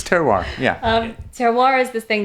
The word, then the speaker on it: terroir: It's terroir.